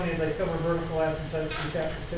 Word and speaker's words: asymptote: And that's how you find the vertical asymptote. Now, in some problems, you'll be able to factor before you can set equal. I did spell it right. In fact, it's totes, like the old umbrella. Totes. Asymptote.